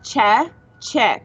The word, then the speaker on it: Chechik: Okay, so it's Chechik. Check. So it's CHE, Che, and then chick, like the word chick, CHIK.